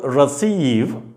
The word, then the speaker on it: receive: you take another word receive receive are the C in spelling the C in spelling is pronounced as Sur receive but we come back